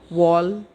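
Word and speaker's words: wall: आर भी लगता है, तब उसका प्रोनाउंसिएशन ओ होता है, आ नहीं। जैसे कि वॉल, दीवार को कहते हैं वॉल नहीं, इट इज़ अ वॉल।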